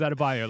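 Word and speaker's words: Adebayo: can't say his name it's babou like Credence bought on the Bayou pronunciation like surely is there not a producer in his ear being like adab bio adab bio his name is adab bio like been in the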